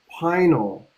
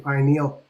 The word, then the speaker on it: pineal: Um I studied um like medical terminology and Latin terminology and it's actually it's actually pronounced pinal pineal the pinal gland.